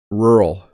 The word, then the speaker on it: rural: to say English word rural so listen how I say it rural I almost don't say the two syllables by the way rural